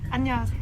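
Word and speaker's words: 안녕하세요: –Annyeonghaseyo – Ah, Annyeonghaseyo – Haha, Annyeonghaseyo thank you for picking me up.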